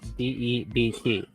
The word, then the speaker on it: debt: over there all right it's Deb with a b and the B is silent I think the French